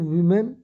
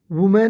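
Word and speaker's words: women: इसका प्रोनाउंसिएशन जो है ना, वुमेन नहीं होगा, वीमेन होगा। क्या होगा? वीमेन। हाँ, अगर ये होता MAN, देखो ये ई है, ME, ये है MA, तो इसका प्रोनाउंसिएशन वुमेन, इसका वीमेन।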